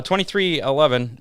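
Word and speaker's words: 23XI: get to our how many for this week twenty three eleven do how many again yeah yeah we're actually gonna do it too uh 23 11 or 23 xi but it's actually pronounced 23-11 uh racing may expand with another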